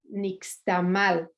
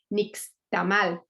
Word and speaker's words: nixtamal: so in Spanish, Castellano, we would say nixtamal, because there's an accented last vowel, which actually is incorrect. The correct pronunciation is nixtamal. So actually the Castellano people say, so Spanish speaking people just say nixtamal, but it's actually nixtamal.